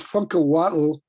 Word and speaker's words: Funkahuatl: why don't you tell us how to pronounce your name correctly with that amazing middle name? The middle name is Funkahuatl.